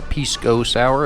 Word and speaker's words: pisco sour: It's called a pisco sour, or pisco sour if you say it like they do.